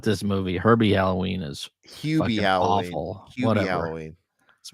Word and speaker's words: Hubie Halloween: Where's Herbie Halloween? Hubie Halloween.